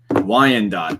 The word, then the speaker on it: Wyandotte: I'm not even going to pretend to know how to pronounce the town that we're in, but just know that it is Wyandotte. Wyandotte.